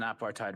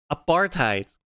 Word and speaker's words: apartheid: uh nonprofit agrees that uh Israel is an apartheid regime again apartheid not AAR reime apartheid okay hell bro you can't